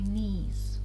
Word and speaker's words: knees: Up to my knees. We don't pronounce K.